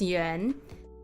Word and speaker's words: Yuen: if I were to, it's kind of like saying you. So you say like you, but then it's like more like you, as in like a e sound, and then n. So like yuan as one sound. That's like the easiest way to pronounce it.